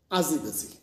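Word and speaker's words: argy-bargy: This term pronounced as azibazi.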